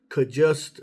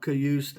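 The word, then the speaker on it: Cajuste: is the correct pronunciation so it is kust not cust a not cust not whatever it's kust um unless I heard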